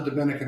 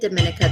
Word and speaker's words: Dominica: which is not the dominican republic they don't say it dominica they say it like a woman's name dominica oh dominica okay um